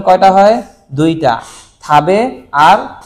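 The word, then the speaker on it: 食: এটার উচ্চারণ কয়টা হয়? দুইটা, থাবে আর শকু, থাবে আর শকু, ঠিক আছে?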